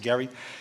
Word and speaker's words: Gerry: political term only he only the term softens the g jerry jerry mandering you've heard of gerrymandering well that's from albert garry his he pronounced it gary he became the governor